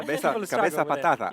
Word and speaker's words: Cabeza Patata: And I'm here with Katie and Abel from Cabeza Patata, the potato head. That's a good pronunciation. Yeah. Cabeza Patata.